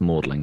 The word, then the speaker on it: Magdalen: Although I will point out, it's Magdalen. It's spelt Magdalen, but it's pronounced Magdalen College. Magdalen, okay.